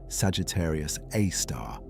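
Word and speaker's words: Sagittarius A*: hole at its center called Sagittarius A star, pronounced Sagittarius Aar, about 4 million times the mass of the sun.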